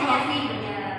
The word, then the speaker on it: khafi: Ya, tulisannya khafi. Bacanya khafi. Kopi. Ya. Kopi.